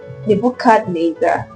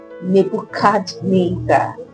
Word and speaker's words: Nebuchadnezzar: Nebuchadnezzar means Nebo will protect the king or the crown.